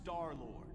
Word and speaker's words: Star-Lord: It's pronounced Star-Lord.